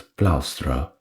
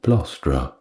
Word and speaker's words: plaustra: When an ex-consul called Mestrius Florus called his attention to the fact that the proper pronunciation was plaustra rather than plostra, he greeted him the next day as Flaurus.